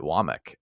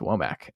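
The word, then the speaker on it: Wommack: it's he pronounced it wck I don't think it's wack uh from an interview I heard I think it's actually not wack but that's a great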